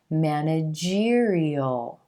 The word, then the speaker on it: managerial: before the suffix tutorial this word manager manager where we emphasize the first syllable and the as in black sound if we put the I al suffix on there it becomes managerial managerial and you'll hear that